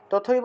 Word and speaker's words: তথৈব: থাকলে দয়ব ঠিক আছে তথৈব থাকলে উচ্চারণ কি তথৈব থাকলে তথৈব তথৈব তথ তারপরে এব একসাথে বলতে হবে তথ এবং এব এই দুইটা অংশকে একসাথে বলতে হবে তথাবা এভাবে উচ্চারণ করতে হবে আচ্ছা তুমি 34 নম্বর